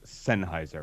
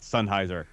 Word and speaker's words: Sennheiser: you hey Michael yes sir it is properly pronounced senheiser right that is correct what am I saying